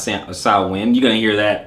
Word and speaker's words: Samhain: It looks like Samhain, but Samhain, pronounced Samhain.